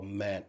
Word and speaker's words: MANDT: So I'm certified in what we call MAT, and MAT is a certification for de-escalation and conflict resolution and crisis management, and also physical management, and that's spelled MANDT.